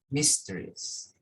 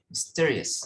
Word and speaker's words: mysterious: So significance, significance, mysterious, mysterious, sorry, mysterious, significant. So stress on the second syllable.